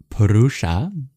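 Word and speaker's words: puruṣa: rud PR and then finally in the word perusa you'll see there is an S with a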